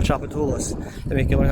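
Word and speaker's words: Tchoupitoulas: When you're in third grade, they make you learn how to spell Chapatulas. They make you learn how to pronounce it and make you learn how to spell it. T-C-H-O-U-P-I-T-O-U-L-A-S. Chapatulas.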